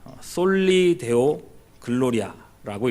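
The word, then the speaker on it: Soli Deo Gloria: 오직 하나님께 영광, 이 라틴어로는요 솔리 데오 글로리아라고 읽습니다.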